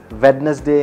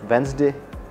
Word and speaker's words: Wednesday: of a person who is going to say wetness day instead of Wednesday if you want to know some rules keep